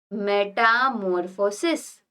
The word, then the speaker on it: metamorphosis: frog so this all the stages are called metamorphosis how will you pronounce it Meta morphosis Meta this is meta